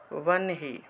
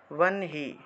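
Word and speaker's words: वह्नि: নিন্যে নিন্যে জফলা যেহেতু আছে, নিন্যে ক্ষায়ম নিন্যে ক্ষায়ম यथा वन्हि वन्हि। এটা ব নটা আগে উচ্চারণ হবে, ঠিক আছে। वन्हि।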